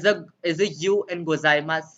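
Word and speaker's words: ございます: is it you and gozaimasu silent yes you and gozaimasu is silent yes somebody asked me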